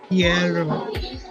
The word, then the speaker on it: Guerrero: Guerrero.